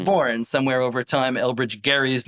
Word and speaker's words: Gerry: Um, it takes its name from the governor of Massachusetts in 1812, Elbridge Garry, with a hard G.